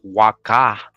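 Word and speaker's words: Waka': from Guatemala says El Peru also known as Waka same way that Waka right in Peru with the H but it's pronounced Waka w-a-k-a just like the site so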